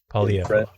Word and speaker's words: Poilievre: On that note, Pierre Poilievre, I don't exactly know how to pronounce his last name. Sorry, Pierre. Poilievre.